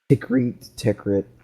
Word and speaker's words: Tikrit: Tikrit. It's pronounced Tikrit.